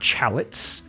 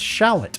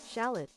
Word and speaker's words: shallot: Not chalots, not Timothy chalot or chalamé. It's shallot.